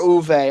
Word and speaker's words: Uwe: Yeah, or Uwe. I don't know how it's pronounced. Yep, U-Ball. It's EWE, but I think the W is a German W, so it's pronounced as a V.